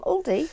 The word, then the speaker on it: Aldi: And Oliver, hi Oliver, from Caravanning with the Coxes, he says that they bought their pegs from Aldi, or Aldi, whichever way you prefer to pronounce it, at only £7 a box, and he says they're brilliant.